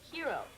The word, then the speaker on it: Hero: Yeah, but in English, we pronounce the H. Hero.